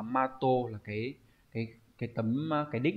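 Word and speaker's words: 的: Đọc là gì nhỉ? Đọc là mato, là cái tấm cái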